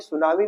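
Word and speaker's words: tsunami: जैसे जो मीनिंग है सुनामी सुनामी में टी वर्ड साइलेंट होता है कोलोनल जैसे कर्नल होता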